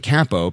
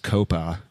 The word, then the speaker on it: Coppa: Winning games again and being undefeated in the Italian Capo, pronounced Coppa, era.